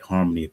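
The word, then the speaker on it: Xarmony: Shout out to, uh, uh, uh, Trill over at Harmony Fragrances, spelled with an X, but pronounced, uh, with an H, X A R M O N Y, Harmony Perfumes.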